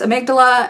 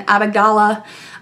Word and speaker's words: amygdala: what I'm talking about I've heard it pronounced amygdala and a Begala I don't care I say amygdala it's just easier so there actually is